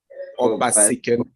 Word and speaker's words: Obasikene: Obasikene.